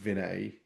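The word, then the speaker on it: Vineet: I think my name, although it's pronounced Vinet, and I'll come back to why that's important in a second.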